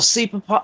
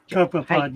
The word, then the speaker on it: copepod: it's a little cepapod, or did I say it right? Cepapod? Or Copepod, yeah.